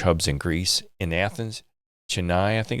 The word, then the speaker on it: Chennai: has 7 multi-language hubs in Greece, in Athens, Chennai, I think it's pronounced, and Thessaloniki.